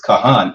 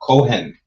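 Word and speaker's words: כהן: It's Kahan and not Kohen, right?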